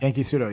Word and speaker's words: Genki Sudo: We have Dwayne Ludwig taking on Genki Sudo. Did I pronounce that right, or even close? Yeah, Genki Sudo.